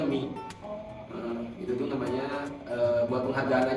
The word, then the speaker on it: Mi: Oh itu sebenarnya dari, sebenarnya itu dibacanya Mi.